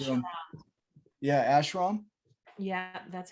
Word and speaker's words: ashram: said he was going to build an ash ashwan i think is the name of it a buddhist uh monastery and one of the other monks said um yeah ashram yeah that's how you say it so he